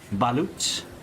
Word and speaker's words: balut: It's actually pronounced balut.